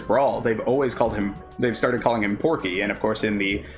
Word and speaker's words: Porky: Even though his canon name in Japan is Porky, the R isn't pronounced in Japanese. It is like Porky. That's how it's read out.